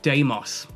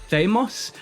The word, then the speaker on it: Deimos: Deimos was actually pronounced in Greek closer to Deimos, as far as I'm aware, and it means dread.